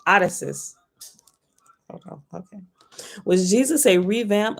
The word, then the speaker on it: Odysseus: revamp of caesar or odessa's hold on that is not how you say that name addison's how do you say that name i know how to say it odysseus okay was jesus a